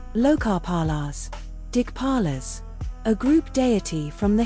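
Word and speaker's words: Dikpala: Dig paralas. A group deity from the Hindu tradition. Primary domain spatial order. Secondary domain boundary protection pronounced dig paral.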